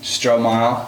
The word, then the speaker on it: Stromile: Stromile.